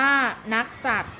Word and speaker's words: นักษัตร: กิจวัตร อ่าน ว่า กิจวัตร นักษัตร อ่าน ว่า นักษัตร เครื่อง จาก อ่าน ว่า